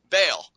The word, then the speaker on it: Bale: Just think Bale of Hay. Bale. Just like that.